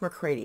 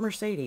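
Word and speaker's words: Mercredi: that I brought in I think it's pronounced mccrady it's m-e-r-c-r-e-d-i yeah so it's it's not Mercedes it's got to be more crazy and this okay I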